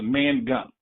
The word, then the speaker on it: Mangum: Now my name is pronounced Mangum, like man chewing gum.